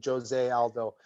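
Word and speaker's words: José Aldo: That was a fight against Jose Aldo. Like, it's spelled like Jose, but in Brazil they pronounce the J. So Jose Aldo, and he was the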